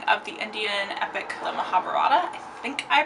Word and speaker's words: Mahabharata: did some youtubing and there doesn't seem to be a standard pronunciation from what i looked at so i heard mahabharata i heard mahabharata i don't know if